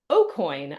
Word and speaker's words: OCOIN: and Ocean Information Network, or OCOIN, I'm assuming is how you say the acronym.